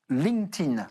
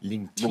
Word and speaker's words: LinkedIn: Alors, vous pouvez remplacer le D par un T. LinkedIn. LinkedIn.